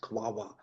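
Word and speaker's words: QAOA: a class of algorithms that are pronounced quava quantum approximate optimization algorithm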